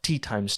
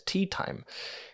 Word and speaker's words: Teatime: He constantly corrects people when they pronounce it as Teatime. There is this core of reality that bubbles up to the surface every time someone mistakenly says Teatime. He then rebukes them in contestation. The reality of his name comes to the forefront and says, no, you do not pronounce me as Teatime, you pronounce me as Teatime.